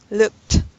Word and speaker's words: looked: looked look I don't hear the T sound looked looked that's better alright okay suspicion suspicion can